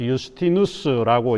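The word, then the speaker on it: Iustinus: 그 JSTIN인데 J라고 하는 게 라틴어에는 무음입니다. 발음이 나오지 않쳐서 그 다음 단어의 의미를 가지고 음력을 만들어내는 거거든요. 그래서 유스티누스라고 이제 해야 되는데 많은 사람들에게 알려져 있는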